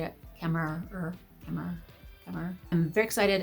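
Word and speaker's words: Kemmerer: by Bridget kmer is how you say it kmer kmer kmer I'm very excited about this book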